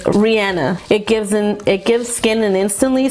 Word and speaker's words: Rihanna: And I actually found out her name, how she pronounces it, is Rihanna.